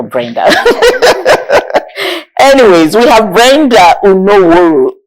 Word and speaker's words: Unavworho: Anyways, we have Brenda Unavworho. It's a renowned, let me be sure that name is pronounced properly.